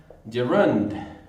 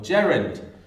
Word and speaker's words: gerund: a utilizar se llama gerund o gerund. Algunos pronuncian la tónica en E, gerund, en la U, perdón, y otros en la E, gerund.